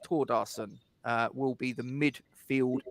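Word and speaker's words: Thórdarson: not anything else and told us that it's pronounced toward arson uh will be the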